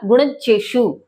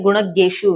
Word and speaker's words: गुणज्ञेषु: मैंने बोला गुणज्येषु, आप बोल रहे होंगे ये होता है गुणज्ञेषु। नहीं, बिल्कुल गलत।